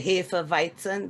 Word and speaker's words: Hefeweizen: Now, if you drink the we say Hefeweizen, that's the way you pronounce it.